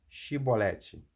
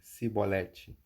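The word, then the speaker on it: Chibolete: Então lhe diziam: Dize, pois, Shibolete. Porém lhe dizia Sibolete, porque não o podiam pronunciar bem.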